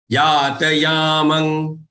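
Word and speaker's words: यातयामं: Yatayamang, yatayamangatarasam. The anuswaranma here has to pronounce as nga, the fifth letter of the ka group.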